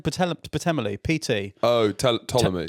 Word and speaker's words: Ptolemy: Yeah, it does, because I think there's a philosopher called how do you pronounce his name? Ptolemy, PT. Oh, Ptolemy. Ptolemy, that's the one.